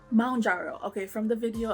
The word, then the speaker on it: Mounjaro: here if you're taking mararo M jaro okay from the video I did learn that it's pronounced M jaro like a mountain if you're taking it